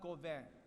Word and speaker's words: Gauvin: and present to Emma Gouven. I said it wrong, right? It's Gouven? Just a little bit. What is it? Gouven? Gouven, yeah. I'm going to say her name again. It's Emma Gauvin.